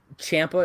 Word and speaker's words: Ciampa: shots, but I mean, if it's Ciampa, or Ciampa is actually how you pronounce his name.